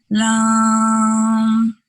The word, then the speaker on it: Lam: The sounds are pronounced with a soft A. For example, Lam will be Lam.